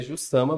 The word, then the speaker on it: Jusama: jussama e acha estava chamando errado mas se pronuncia jussama mesmo não é isso é junção o cliente